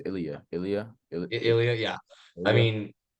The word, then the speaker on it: Ilya: But Ela, is that how you say it, right? I think it's Ilya.